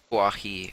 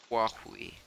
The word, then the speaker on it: Huawei: do you pronounce it walkway i mean it's it's aspirated and these sounds are sort of interesting for american pronunciation but still like just you know pronouncing it huawei is a pretty basic